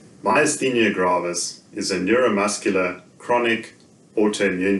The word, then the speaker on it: myasthenia gravis: The first part of the first word, my, then as, and then the-nia.